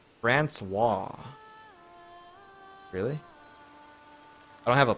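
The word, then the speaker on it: François: Francois. Really? I don't have a plugin to hear it, but the pronunciation is Francois.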